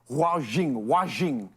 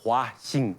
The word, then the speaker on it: Huaxing: Just to make sure, am I pronouncing it correctly when I say Zhaojing? It's a Huaxing, H-U-A, Huaxing.